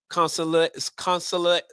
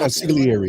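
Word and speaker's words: consigliere: See, going back to the Godfather, see, you have a wartime consulary. I'm pronouncing it right. Conciliary is the word.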